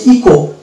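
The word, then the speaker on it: echo: তারপরে এই শব্দটা দেখবো, এখানেও কিন্তু এইচ সাইলেন্ট আছে, অর্থাৎ এটা হচ্ছে ইকো।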